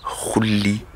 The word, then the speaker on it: Xulibet: Ça s'écrit Xulibet, Xulybet, mais ça vient du Wolof. Et ça se dit Khulibet.